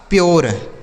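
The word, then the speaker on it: pure: पी यू आर ई तो पी से हो गया आधा प। यू का उच्चारण यो। आर ई से र। ये लिखा गया आपका प्योर।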